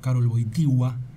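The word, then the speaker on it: Karol Wojtyła: 14 en el procedimiento de juan pablo segundo karoui sigua así se pronunciaba ha sido raro no ese día concluía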